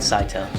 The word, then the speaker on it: Scytale: Scytale works.